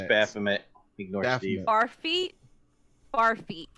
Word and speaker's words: Baphomet: Just- Barfamit. I just Barfamit. want to keep messing up Sean's pronunciation of this. Barf. It's Baphomet.